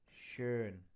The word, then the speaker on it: schön: Now, when this O comes with A, that is my this character, and it is pronounced as Ö, as in sure, mature. For example, Kösher, schön, schön, ä, ü, ö, ä, ü, ö, ä, ü, ö, schön, Bücher, Küche.